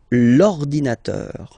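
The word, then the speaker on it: l'ordinateur: second case ordinator well you can see that it start with the vowel o okay and as I said you know uh and O they don't get along that well so you've got to take this away and then you get this linator linator all right and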